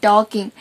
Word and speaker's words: talking: And it is not walking and talking, it is walking and talking. And the letter L is silent.